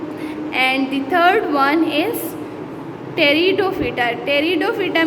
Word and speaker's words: Pteridophyta: the third one is Pteridophyta. Pteridophyta में जो start में P है, P साइलेंट है, इस वजह से हम इसको क्या कहते हैं, Pteridophyta।